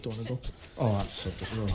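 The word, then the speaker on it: Dornogal: pronounced Dornagle. Oh, that's so good. I just say Donegal because it's Donegal, but with an R in it.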